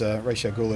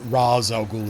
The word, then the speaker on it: Ra's al Ghul: Sorry, Ra's al Ghul, as they pronounce it in that show for some reason. Or actually, I think it depends on who you talk to.